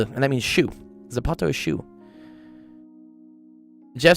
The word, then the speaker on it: zapato: What's Zapato? Uh, that's Spanish when they So, people in Spain pronounce it as a th in in Mexico and stuff. It's a z and that means shu. Zapato is shu.